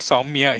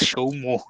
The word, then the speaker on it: Soumya: By the way, Shashwat, he is not Soumya, he's Shomo.